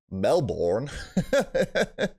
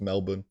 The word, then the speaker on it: Melbourne: For Melbourne. I'm pretty sure they don't say it like that. I'm pretty sure it's Melbourne.